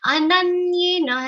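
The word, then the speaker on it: अनन्येन: Ananyena has a stress of na, and ye and nai both are long sounds. So do proper justice to their pronunciation.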